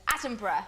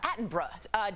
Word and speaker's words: Attenborough: It's Sir David Attenborough. Did I say it right, Steph? Bruh. You did. You did good. Attenborough. Attenborough.